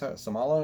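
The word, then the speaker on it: Seumalo: guard we've got um somalo i think it's somala that's how you pronounce his name jason kelsey at center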